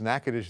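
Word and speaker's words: Natchitoches: This is going to be Nacadish. And then you can also or Nakadocious. See, I always do that because I spent six years in Louisiana. So, it's Nacadish there, Nacadocious in Texas. Spelled the same way.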